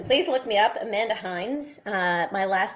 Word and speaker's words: Hynds: Amanda Hines. Uh, my last name is spelled H Y.